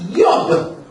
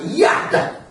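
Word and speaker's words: יוד: And this here is an arm, and it's pronounced Yod or Yad. Because hands in the Hebrew is Yad. And that's where we get our word Yada, to worship with uplifted hands. Yad. But Yad or Yod, that word, means to make something.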